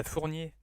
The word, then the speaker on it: Fournier: yeah, Fournier, Fournier.